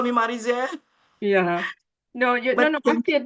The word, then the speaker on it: Marizel: Yes, Marizel.